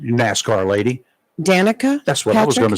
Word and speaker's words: Danica: NASCAR star Miss Patrick now how do you pronounce her first name NASCAR lady Danica that's what I was GNA say right it is Danica good she went on a rampage against Danica